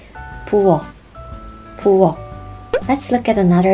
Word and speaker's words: 부엌: 부엌, 부엌. Let's look at another example, 앞, which means in front of, and we pronounce this like 앞, 앞.